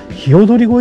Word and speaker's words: 鵯越: ひよどり越えって読むみたいですね。